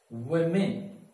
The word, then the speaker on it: women: right but the pronunciation is were men so pronunciation will be women all right so now comes this word if